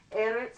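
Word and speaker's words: ארץ: errands in this one I have the accent on the first syllable Eric's and here's the Saudi so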